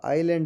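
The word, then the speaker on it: island: इसमें जी साइलेंट है आपका आइलैंड है इसमें एस साइलेंट है आपका रेक है इसमें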